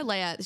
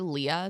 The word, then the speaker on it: Leia: She's also calling her Leah the whole time. I was like, did no oh, that one was did no one brutal. let her know how to pronounce their names? They're literally shooting this. It's not live. Like, you can just be like, cut. It's actually pronounced Leia, Dr.